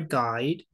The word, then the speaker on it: guide: Con sonido como de D al final.